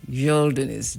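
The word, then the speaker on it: geldiniz: Yelinis. G e l d i n i z. Gelinis. It pronounced like a y.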